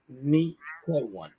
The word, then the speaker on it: Mikawan: But my name right pronunciation is Mikawan. It's a 3-syllable word.